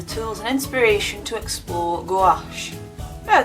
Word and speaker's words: gouache: and inspiration to explore gouache now they say it's pronounced wash I'm still gonna pronounce it go out because I've always pronounced